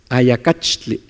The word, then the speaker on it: ayacachtli: No es ayacachtli, es ayacachtli. Ayacachtli. No es cash, es catch, catch, ayacachtli, ayacachtli, sonaja, ayotochin, ayotochin, armadillo.